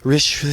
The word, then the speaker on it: Richey: looked it up and it was like it's pronounced Richey.